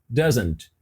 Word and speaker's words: doesn't: repete aí ó doesn't doesn't percebe que quando ela foi pronunciar essa palavra o doesn't esse T foi ignorado ela não pronunciou se t e a pronúncia ficou doesn't doesn't repete aí ó doesn't